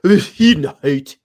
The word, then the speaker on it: Bezuidenhout: I mean, the correct pronunciation is, of course, Christian Bezuidenhout.